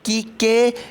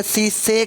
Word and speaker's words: caeca: उनको हम कीके या सीसे कहते हैं, CAECAE, कीके या सीसे। कुछ लोग इसे प्रोनाउंस करते हैं कीके, कुछ प्रोनाउंस करते हैं सीसे।